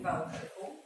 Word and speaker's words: Wałbrzychu: Nasz akcent jest na przedostatnim sylabie od końca. I nie mówi się na przykład Wałbrzych. Tak jak pan powiedział, proszę powiedzieć Wałbrzychu. Wałbrzychu. Wałbrzychu. Pan akcentuje jak gdyby pierwszą sylabę. Wałbrzychu.